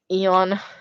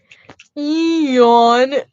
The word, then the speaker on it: Eon: You It's That's how you pronounce it. Eon. Eon.